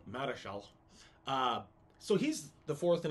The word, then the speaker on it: Marischal: And a fellow named William Keith, who's the fourth Earl of Marischal. Probably Marshall is close to how it's pronounced. Marischal.